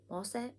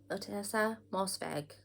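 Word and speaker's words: Ottessa Moshfegh: year of rest and relaxation by otessa mossev mosset mosfeg otessa mosfeg i was saying it in my head repeatedly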